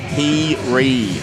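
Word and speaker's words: Heary: Her last name is pronounced He-Ree.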